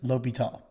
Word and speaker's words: L'Hôpital: Otherwise, his name should be L'Hôpital. That's how you say it.